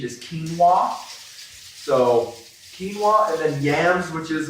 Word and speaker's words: quinoa: or sweet potato this one everyone has difficulty pronouncing it myself included i used to say quona but i think they they say the official pronunciation is quinoa so quinoa and then yams which is also another sort